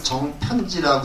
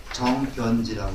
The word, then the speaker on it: 정변지: 요걸 정편지라고 읽지 않고 정변지라고 읽습니다. 정변지.